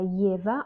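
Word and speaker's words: его: En fait, le moment quand j'ai parlé du génitif, j'ai dit ova, yeva, mais en fait, on écrit ogo, yego, mais on prononce ova, yeva.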